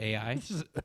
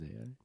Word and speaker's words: Ai: I call AI. it I. It's actually I pronounced think you're like thinking of I am. That's AI. Moses. With it's pronounced, or it's spelled AI, but it's pronounced like I.